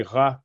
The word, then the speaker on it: Ra: ce qui est écriture on va prononcer rat comme dans ramos et ramsès rami sous d'accord mais au niveau